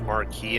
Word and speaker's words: Marquis: I believe the actual pronunciation is Marquis, and I believe it's a French term for like a governor or something.